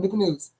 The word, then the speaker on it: Newport News: It's one word, Newport News.